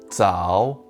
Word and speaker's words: 爪: of grabbing on to something this character is pronounced tsao and means nail when used as part of